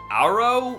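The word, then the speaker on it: Agro: you're unresponsive mare is named aggro pronounced arrow for some reason would you'll be hearing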